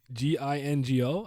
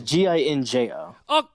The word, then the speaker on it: Ginjo: Is that how it's spelled? Yeah. Like Gingo? I swear I spelled. Oh, it's Ginjo.